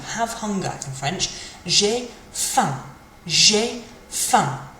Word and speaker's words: faim: J'ai faim. J'ai faim. Kind of finishes in your nose, but you do close your mouth with a sort of sound at the end.